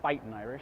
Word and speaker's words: Fightin' Irish: I likewise will go with the Fighting Irish, or Fightin' Irish, I guess would be the correct pronunciation.